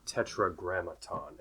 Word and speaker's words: Tetragrammaton: Tetragrammaton, and it has 5 syllables.